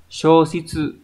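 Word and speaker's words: 消失: Số 3 là từ từ này có tồn tại, từ này đọc là shoshitsu, là mất mát, nhưng mà nó đọc là sho chứ không đọc là son.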